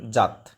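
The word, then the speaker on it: যাৎ: পুরুষ বিভক্তি একবচনের ইয়াত অন্তস্থ জ এর উচ্চারণ ইয় হয় ইয়াত সংস্কৃতে কিন্তু বাংলায় জ উচ্চারণ জাত জাতাম জুস আর যদি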